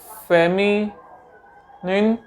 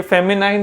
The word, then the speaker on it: feminine: ये फेमिनाइन नहीं है, यह है फेमिनिन, और कॉमन तो आपको पता ही है।